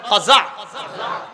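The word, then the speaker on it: قزع: বলেন আমার সাথে সবাই, কাজা বলেন, আবার বলেন কাজা, কফ জা আইন বানানটা কাজা বলেন।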